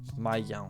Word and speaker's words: mają: Mają. How do you pronounce that? Mają. Mają. Right, so the A with the little thing is like an O with the like the nasal.